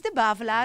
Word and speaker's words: de Bavelaar: I thought that I had to say his name in a very strange French way, but apparently he has Ch'ti roots. So he has some Flemish blood there. So it's de Bavelaar, as we say it in Dutch.